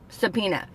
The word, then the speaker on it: subpoena: o ena Y is the O silent a DA now but to break it down its sub su be PO like Edgar Allan Poe ptoey and the nut and a subpoena so I'm not quite